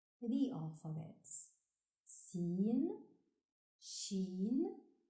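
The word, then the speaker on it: سين: Sin, like in sun.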